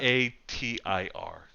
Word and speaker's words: Yatir: Yeah, Tier is spelled in what way? T-E-A-R or T-I-E-R or what? Yatir.